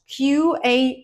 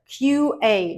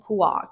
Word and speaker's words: QA: this is your job QA engineer QA not Kua QA engineer in general you need to remember that acronyms in English are pronounced as separate letters of the alphabet that's why we say